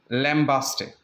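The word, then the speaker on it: lambaste: लैम्बेस्ट बि पढ़िबो आहे इनखे. इहो बग़ैर ई जे बि वर्ड अथव, इहो ई सां गॾु बि आहे. ॿ स्पेलिंग्स आहिनि. सो हीउ जेको आहे कॉमनली तव्हां इंटरनेट वग़ैरह ते ॾिसो त लैम्बेस्ट, राइट, या लैम्बास्ट. सो ॿई साउंड्स बि इन जा आहिनि.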